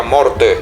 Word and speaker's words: Marte: muerte, que en realidad no se pronuncia Marte, se pronuncia morte. Morte es como eh tenemos la mala costumbre de de hacer esa a mucha más larga de lo que es. En realidad es morte.